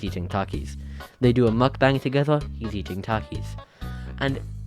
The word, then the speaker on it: mukbang: or the print or the proper way to pronounce them mukbang I am not going